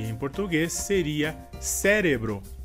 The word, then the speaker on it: cérebro: A próxima palavra seria em espanhol cerebro e em português seria cérebro. A diferença seria que em espanhol a sílaba forte seria re e em português seria a sílaba inicial se.